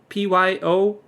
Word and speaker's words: Piotr: Piotr? I think that's how they pronounce his name, Piotr, but it's like, you only got 3 letters in there. How do you pronounce that, Piotr? It's like Pyottte.